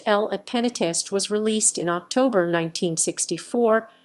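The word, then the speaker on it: Le Pénitencier: french by johnny halliday his version titled le penitencier pronounced l at penatist was released in october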